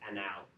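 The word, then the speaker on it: -anal: This is anal spelt anal pronounced anal because it's an aldahhide.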